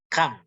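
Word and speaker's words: كم: Maka kita jawab, membacanya adalah kam. Kafnya di fathah, mimnya di sukun.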